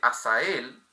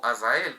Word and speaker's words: Azael: nos nombra acá con el nombre de asael o Azael con zeta eh con la pronunciación de la seta hebrea o aramea también semítica eh dice que no